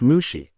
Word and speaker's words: Mushi: It's pronounced Mushi, Iroh corrected her.